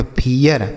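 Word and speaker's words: fear: इसे पढ़ा जाएगा यफ से फ, ई का उच्चारण ई, आर से र, इसे पढ़ेंगे फियर।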